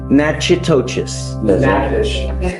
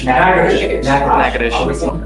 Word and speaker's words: Natchitoches: I butchered the pronunciation, but Natchitoches. What is it? Natchitoches. That.